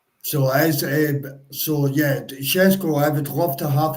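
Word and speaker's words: Šeško: watch the broadcast, is Shesko. Oh, Shesko? Shesko. Yeah, it's a Eastern European pronunciation. So Shesko, I would love to have him at the club, 1,000,000%.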